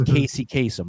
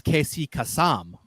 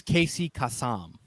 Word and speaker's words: Casey Kasem: Like for example, the way that he pronounces his name during his lifetime, right? For the entertainment industry, is Casey Kasem, right?